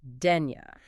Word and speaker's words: Dénia: We are talking about Dena, and that's pronounced Dena.